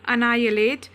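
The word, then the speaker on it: annihilate: pronunciation पर ध्यान दीजिएगा इसमें एच जो है वो साइलेंट है तो क्या पढ़ेंगे से नायलेट नायलेट मतलब होता है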